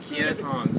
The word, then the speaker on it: Kien Hoang: Kien Hoang. Did I say it right? Kien Hoang, yes.